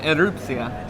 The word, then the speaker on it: Erupcja: I want you to tell us how to pronounce it. correct. Um Erotica.